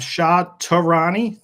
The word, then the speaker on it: Shah Tehrany: So brokers, I have Shah Tehrany. I pronounced it correct, right?